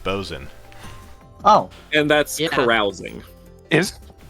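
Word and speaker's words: boatswain: view boats swaying too always hollering it's actually pronounced bozen oh and that's carousing is hmm yeah i've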